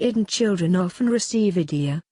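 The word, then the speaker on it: Eidi: In the Middle East it is common to buy new clothes for the Eid, and children often receive idea, pronounced pretty much like idea, which is money.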